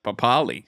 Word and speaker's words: Papali: But then also there's a Joash Papali that plays for the Eels, but his name's actually pronounced Papali.